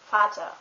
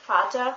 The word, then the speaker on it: Vater: V is normally pronounced like an F. For example, the word Vater, which means father, is spelled with a V.